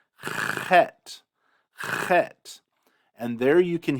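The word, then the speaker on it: חית: So there is a difference between chet and chet, but you could even consider that dialectically different. Use whichever one is easier for you.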